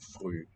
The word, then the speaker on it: früh: it's hard to tell, but this one can only be a long vowel, früh. If we contrast it with the plural of the word fruit, that one has a short vowel and a closed syllable. Früchte. Früchte. Short here, and also typisch, although those have long variants too, not a good example. Früh, long.